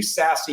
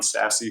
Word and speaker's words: SASE: five you said do sassy your way um you know you should almost spell that s-a-s-s-y you know be sassy but that there's no